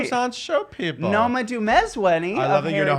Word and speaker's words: Noma Dumezweni: Noma Dumezweni.